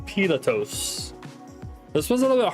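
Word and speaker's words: Πιλᾶτος: And this one you pronounce Pilatos. Pilatos.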